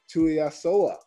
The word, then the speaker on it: Tuiasoa: Today, we're talking to Tuiasoa. What's going on, my man? Did I get it right? Did I say it right? Hey, you got it right, man. Tuiasoa, man.